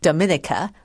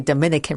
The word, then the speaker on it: Dominica: for some people it's easy to just call it Dominica like the Dominican Republic but I think most people would prefer or choose to pronounce it as Dominica well now how